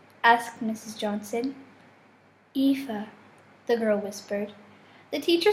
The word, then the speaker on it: Aoife: Johnson Aoife the girl whispered the teacher smiled at her